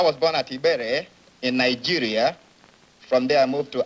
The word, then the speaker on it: Nigeria: Well, I was born at Ibere in Nigeria.